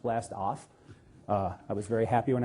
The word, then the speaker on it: BLAST-AHF: Really, it's supposed to be pronounced blast-off.